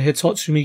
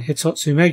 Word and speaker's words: Hitotsu-Me: a hundred one of the hitochony giants said it wrong again hitotsu made giants is seen carrying an